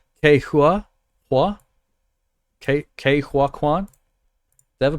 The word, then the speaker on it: Ke Huy: Is it Hui? Hui. Hui. Yeah. Hui. Hui.